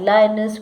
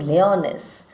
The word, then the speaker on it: Lyonnesse: I think it's better to pronounce as lyonnesse.